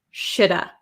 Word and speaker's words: should have: could have would have that v kind of becomes silent and we are left with shoulda shoulda okay i shoulda